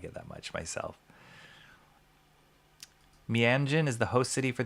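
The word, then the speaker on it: Meanjin: It's pronounced Mianjin.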